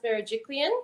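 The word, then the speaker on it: Berejiklian: it like I saw Gladys berajiklian is that um is that right Premiere yeah premier of New South Wales yeah yeah you pronounced it right yeah cool um so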